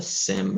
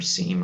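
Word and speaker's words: SIEM: stuff and it's what's called a sim or seam i've seen people pronounce it both ways uh which is a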